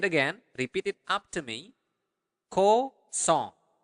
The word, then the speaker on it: kosong: Kosong. Make sure that you are pronouncing the nasal sound there. Kosong. Song. Like a song.